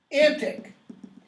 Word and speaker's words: antique: fables nor these spirituals notice my pronunciation of that word antic that's how it's pronounced in Shakespeare's now I think if